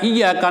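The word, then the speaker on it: إِيَّاكَ: Iya itu tasydid, iya itu mad. Dibacanya harus bertasydid. Jadi kalau dibaca bertasydid, itu membuat pengakuan yang disembah Allah Subhanahu wa taala. Jadi kalau orang membaca iyyaka na'budu tidak bertasydid, itu yang disembah bukan Allah.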